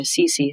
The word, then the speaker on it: Cece: It's really funny because when I say with me, Cece Cece, my name pronounced in American English, it rhymes.